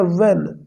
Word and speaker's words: when: व्हेन ही reached, व्हेन, दोस्तों इसको कई बार लोग पढ़ते हैं व्हेन, व्हेन नहीं होता, ये होता है व्हेन, इसमें H साइलेंट होता है।